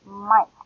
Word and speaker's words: Mike: So I know Mike, it has the I sound. I, K, and then E, Mike. And I do not hear the E. So this follows the silent E rule, Mike.